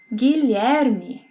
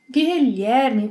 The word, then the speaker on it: Guilherme: Can you pronounce this name? Guilherme. Guilherme, quite hard, isn't it?